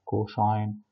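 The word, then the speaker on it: cosh: احنا هنا في مصر اتعلمناها الهايبربوليك ساين بننطقها شاين، والهايبربوليك كوساين بننطقها كوشاين، والهايبربوليك تان بننطقها تانش، فبننطق شاين كوشاين تانش، والتريجونومتريك بنقول ساين كوساين تان.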